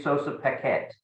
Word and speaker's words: Sossa Paquette: the second congressional district of that state Jeffrey Sosa Paquette and am I pronouncing that properly you pronounced that perfectly fantastic